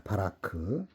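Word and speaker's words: ברך: 바라크. 바라크. 바라크라고 읽습니다.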